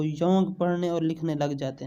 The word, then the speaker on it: Jung: अच्छा याद कर लो, JUNG, योंग। बहुत से जाहिल इसे जंग पढ़ते हैं और कुछ जोंग। जिन्हें काबिलियत का हैज़ा हो जाता है वो योंग पढ़ने और लिखने लग जाते हैं।